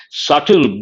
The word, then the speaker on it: subtle: have a negative connotation subtle B is silent an important word in